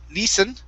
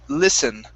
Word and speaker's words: listen: uh next up is a short i sound right here instead of lee lisen it's listen listen listen very nice um next